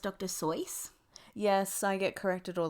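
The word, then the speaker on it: Dr. Seuss: you know that it's actually called it's actually pronounced dr seuss yes i get corrected all the time by my partner but it's dr zeus so no i know i don't yeah i'm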